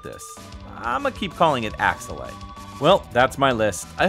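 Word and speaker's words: Axelay: unfamiliar with growing up I always thought it was called axle but now I'm hearing it's just ax slay that just sounds kind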